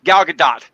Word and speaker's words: Gadot: It's actually, you gotta say it like actually Gal Russian, yeah. Gadot. It's Gal Gadot, not Gal Gadot, but I can see how people, the American version of that one.